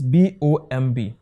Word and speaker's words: bomb: my example like this this is b o m b this word is not bomb but what bomb now what happened to the b letter b is what removed is no longer pronounced it is what silent so in differentiating between